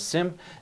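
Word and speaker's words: SIEM: thing here we're going to talk about is sim now sim as i have pronounced it is is a little bit different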